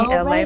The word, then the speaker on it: LA: It's me, LA, pronounced like LA like the city.